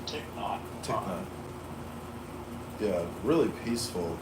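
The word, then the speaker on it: Thích Nhất: And for whatever it's worth, his name is pronounced Thich Nhat.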